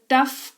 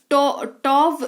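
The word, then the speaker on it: tough: इस्तेमाल करते हैं शब्द टफ का है ना ट टोव इसको मत पढ़ना टी ओ यू जी एच जी एच का उच्चारण जो है ग और एच ह के टॉग करके कई लोग करते हैं इट्स not that it's टफ है ना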